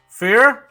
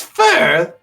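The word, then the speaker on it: Fir: fur general manager and it's spelled F IR ah for fear fur see it's fur though figure I do like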